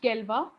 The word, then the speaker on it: Galois: Okay, it's pronounced Galois. It's a French pronunciation of that. It's written like Galois, but it's never pronounced Galois.